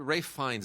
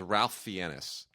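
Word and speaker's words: Ralph Fiennes: fins you know what do you mean the ray fines is not how you pronounce his name Joseph doesn't like to go by Joseph fines because he pronounces it fienis he says your name is Ralph fenis is that his name that's that's really how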